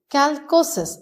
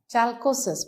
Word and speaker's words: chalcosis: Calcosis or some of you pronounce it as chalcosis. Whatever you want to, I call it calcosis.